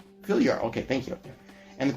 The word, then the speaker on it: Fylgjur: The animal helping spirits, most notably you might have to help me out on this pronunciation, Fylgjur, Fylgjur. The J is a Y. Fylgjur, okay, thank you.